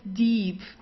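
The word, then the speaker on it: Dieb: that you have to stretch the eye okay so it's a long eye the Deep so you don't say dip or dip deep it's deep yeah okay that deep kind of like the word deep in uh in English yeah they're deep uh also the B it's not pronounced very strong so it's not de or so it's deep sounds more like a p at the end okay the Deep Thea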